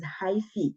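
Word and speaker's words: hyphae: that you call a high fee right this word will call it or we yeah we pronounce it as hyphi so bodies of fungi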